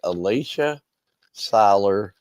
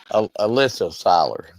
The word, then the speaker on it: Alyssa Seiler: I'm going to say Alicia Seiler. Hopefully I pronounced that right. If not, she's going to probably get me in a headlock. Did I pronounce it right? It's Alyssa. Alyssa Seiler. Okay. So I was close.